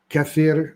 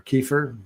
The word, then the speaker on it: kefir: And it's the microbes that you would find in sauerkraut, in kombucha, in kimchi, in yogurt, in kefir or kefir, depends on your pronunciation.